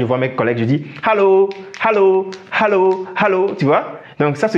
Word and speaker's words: Hallo: C'est pas Allo, non. C'est Hallo. Il faut prononcer le H qui est devant le nom.